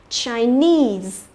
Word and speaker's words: Chinese: Rồi, trọng âm của nó cũng rơi vào cái âm tiết nese này, nhớ chưa?